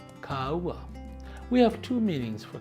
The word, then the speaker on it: kāua: This first week of the month, we'll be considering a stress mark over the first vowel, A. This is the kākou, or makron. It's pronounced this way, Kāua, Kāua.